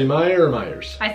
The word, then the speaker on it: Meijer: you say Meijer or Meijer's? I say Meijer. Okay, well that's even worse. I'm just making fun of the fact that it's Meijer and the J is silent, so I like to make fun of it.